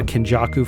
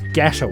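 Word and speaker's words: Geto: zero especially the Utah Kaku fight or it's not Kaku in that one it's gho thank you it's ghetto in that fight God I'm going to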